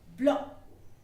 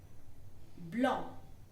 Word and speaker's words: blanc: White will be blanc. Blanc. Blanc. There will be a little nasal sound.